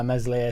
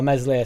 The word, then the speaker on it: Meslier: Darlow showed in the cup why Meslier Silent S is our number 1.